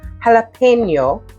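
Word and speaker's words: jalapeño: I have some jalapeno, let me pronounce it like I'm Espanol, jalapeno peppers.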